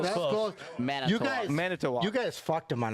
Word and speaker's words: Manitowoc: Manitowak. Well, that's Manitoba. close. That's close. That's close. Manitoba. You guys, Manitowoc.